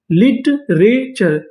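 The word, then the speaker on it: literature: यानी आपको इंग्लिश में टी यू आर ई लिखा मिले तो आपको क्या पढ़ना है? चर तो मीनिंग क्या बनी? एल आई टी ई लिट आर ए रे लिटरेचर।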